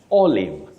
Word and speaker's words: olive: we have Kelly mangoa olive olive don't use the long sound e olive olive No olive olive just like to live not to leave Rog and vog Beth